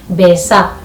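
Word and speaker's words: mbeca: Besa. Besa. So M can be silent, but when it comes to writing, you must always include M, because once you remove M, it will be fe.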